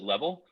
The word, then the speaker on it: LVL: like what what is LDL which we often pronounce it level and so what level is is a mobile